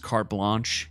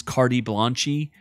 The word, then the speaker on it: carte blanche: there's a part where he mispronounces carte blanche he says cardi blanchy like is that supposed